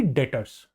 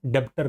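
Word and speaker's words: debtors: अब हो गए संड्री डेटर्स। डेटर्स क्या होते हैं? डेबिटर नहीं। हां, पहले भी डिस्कस हुआ है। डेटर्स बी साइलेंट होता है।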